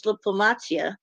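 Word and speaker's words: дипломатія: So he may not have understood what they meant by diplomacy because in in Ukrainian it's diplomatia, you know, is how you say it in Ukrainian.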